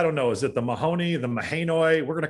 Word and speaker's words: Mahanoy: i have debated this i've actually done some research uh pronunciation guides online the best i can tell it's monoi so there you go um so we'll be